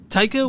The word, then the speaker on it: Taika: didn't i didn't i didn't i got it taika why and i don't know why i haven't